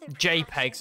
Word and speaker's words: JPEG: a his Scuba jpegs another one you don't pronounce j p e g you just say jpeg this story is abstract